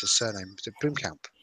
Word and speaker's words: Blomkamp: I can't pronounce his surname. Is it Blomkamp? Blomkamp, yeah.